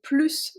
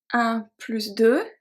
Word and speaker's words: plus: Now we also pronounce the S when we talk about math. So if we say 1 plus 2 égale 3. 1 plus 2. 15 plus 15 égale 30.